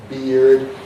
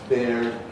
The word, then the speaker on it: beard: Where the R is not final in the word but before a consonant, then beard becomes beard, becomes beard, and the R is lost in the history of received pronunciation and so on.